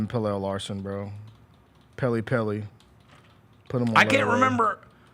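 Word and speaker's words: Pelle: I just remembered that Pele Larson hit a game winner against us in Summer League, and you bozos don't even know how to say his name. Pele, bro.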